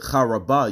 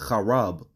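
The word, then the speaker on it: חרב: You wouldn't pronounce it Charabah. You would pronounce it Chaarab.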